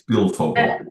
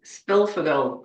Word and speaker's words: Szpilfogel: I'm going to have a go at pronouncing your surname. I meant to ask you this. It's Spilfogel. Spilfogel, yes.